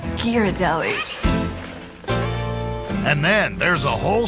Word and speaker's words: Ghirardelli: He came up with this illustrated parrot that explained to people how it's pronounced. It had the phonetic spelling of Ghirardelli. And if you said Ghirardelli, somebody would, reprimand you and say, no, it's Ghirardelli.